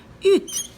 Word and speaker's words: hutte: U, qui tient la main de la lettre N, deux ponts, E, une petite boucle, hutte. Je trace la lettre H, mais je ne la prononce pas, elle est muette.